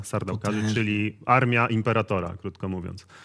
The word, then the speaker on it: Sardaukar: pamiętamy w pierwszej części sarda karów to się tak wymawia sardaukar czyli armia Imperatora Krótko